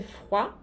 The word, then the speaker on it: froid: Il fait froid? Faz frio? Il fait froid? Vocês veem aqui que o T não se pronuncia no final.